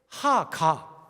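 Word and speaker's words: הגה: 하가. 따라해 보시라니까요. 하가. 하가 이렇게 읽는 게 아니라 하가라고 읽는 게 묵상이라는 단어예요.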